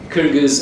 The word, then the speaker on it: Kyrgyz: The Kyrgyz, as we pointed out, speak a Turkic language, and in their language, Kyrgyz is the way you pronounce it. Nobody else can say that.